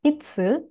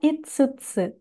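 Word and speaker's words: 五: Untuk kunyomi dibaca itsu, lalu bisa juga dibaca itsutsu, tanpa tsu kecil ya. Kemudian onyominya adalah go.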